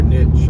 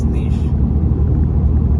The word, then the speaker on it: niche: where my niche or niche. I was saying niche last night. My wife got mad at me and said it's niche. British say niche, Americans say niche. Doesn't really matter.